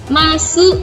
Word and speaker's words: masu: Sensei kok itu belakangnya desu? Bacanya des. Iya. Kalau di Jepang itu ada tulisan masu atau desu di akhirnya, dibacanya des atau mas. Di akhir kalimat nggak dibaca.